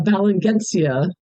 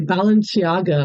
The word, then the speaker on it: Balenciaga: And then on top of that, again, the more Satanism, she goes to a B a Balenia, oh, excuse me, Balenciaga. I keep saying that name wrong.